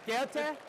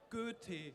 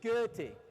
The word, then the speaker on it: Goethe: Goethe? It wasn't too terribly wrong. It's Goethe. Goethe.